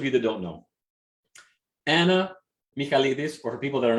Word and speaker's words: Michaelidis: Okay, so for those of you that don't know, Anna Michaelidis, or for people that are not Greek, Michaelidis.